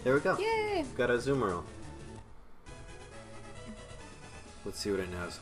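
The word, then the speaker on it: Azumarill: Uh, people say aumemeral or aumeroll. Azumaru. I've always just said I've always just said a zumemeral.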